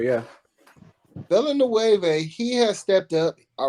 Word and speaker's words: Villanueva: Because Alejandro Villanueva, their other starting tackle, is kind of an up and down player.